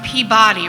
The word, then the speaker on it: Peabody: And I said, okay, but you know that's pronounced Peabody, right?